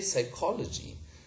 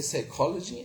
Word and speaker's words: psychology: We say psychology. We say cupboard. We do not pronounce this p sound here. We say cupboard, okay? Fine. And it's a permanent loss, okay? So we say psychology and cupboard.